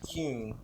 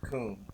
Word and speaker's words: Kuhn: But really how you pronounce it is Kuhn, but everybody says Coon.